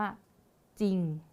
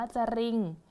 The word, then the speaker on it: จริง: จะ อ่าน ว่า เขา ก็ จะ อ่าน ว่า จริง อย่าง นี้ เลย ค่ะ เรา จะ ไม่ เอา ร เรือ เข้า มา นะ คะ จะ ไม่ อ่าน ว่า จะ Ring นะ คะ อาจารย์ จริง ไป เลย เรา จะ ปิด เสียง ของ รอ เรือ ไป เลย นะ คะ อ่ะ เรา ลอง มา